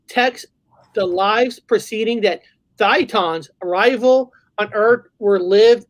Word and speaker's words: Thetan: Bob, did they pronounce it Thetan or Thetan? Yeah, like Thetan. Okay. Like Satan. Thetan.